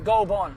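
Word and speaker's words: Goulburn: We're heading to Goldburn. Yeah. Gold Goldburn. Goldburn. It's not Goldburn. Yeah. Don't say the burn. No. Goldburn. Goldburn. So, it's Goldbon. Oh, it's not Bon, but it's like halfway between. Yeah.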